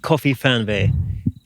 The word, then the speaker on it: KOFIFERNWEH: So what you can see behind us is Dave's van called KOFIFERNWEH. And You nailed that pronunciation.